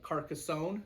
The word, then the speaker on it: Carcassonne: times, is one called Carcassonne. That's what's how to pronounce it. It is takes place in France, hence the Carcassonne, and it's interesting because it's just a puzzle building game.